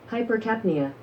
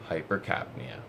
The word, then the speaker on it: hypercapnia: headache or hypercarpinia which this is how it's pronounced hypercapnia hypercapnia so my first bit of research comes from